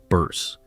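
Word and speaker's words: Bearse: In an April 2026 interview with David Faustino on his Bundy Club website, she casually revealed the correct pronunciation of her last name, Bears, rhyming with curse, a name she has apparently been quietly correcting for four decades.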